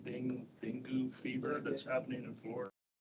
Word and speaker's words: dengue: dengue.